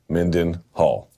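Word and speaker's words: Mindenhall: Luke Thomas, Danny Segura, Phoenix Carnivale, and Chuck Minden Hall.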